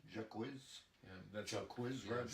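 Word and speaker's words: Jacquizz: And But Jaquiz Rogers is how do you pronounce his name? Jaquiz? that's Jaquiz yeah, Rogers?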